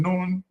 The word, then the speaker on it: Nun: Egyptologists believe it was pronounced something like Noon or Noon.